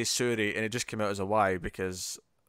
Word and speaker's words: Suri: I said Sui. Essentially, I didn't say the R properly.